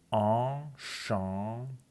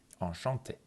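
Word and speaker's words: enchanté: آنشانته از نظر تلفظ 2 تا سیلاب نزل داره، یعنی 2 قسمتش رو شما باید از توی بینی تلفظ بکنید. آنشانته، آنشانته.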